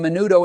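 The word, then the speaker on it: menudo: No, it's pronounced manudo.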